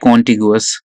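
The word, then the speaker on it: contiguous: Next देखो, कंटिगुअस। कंटिगुअस, और यू can pronounce it like कॉन्टिगुअस।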